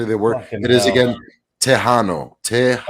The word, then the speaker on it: Tejano: It is again Tejano.